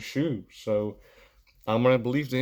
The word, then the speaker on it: Schuh: It's SCHUH. I don't know how, or SCHUCH. I just looked it up and it was Shu.